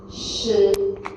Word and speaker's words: 食: And next is a 食, which you can use the word like sheep. 食.